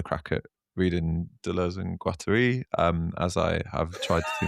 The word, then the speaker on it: Guattari: Guattari. How do you say it? Guattari is totally right. That's totally right.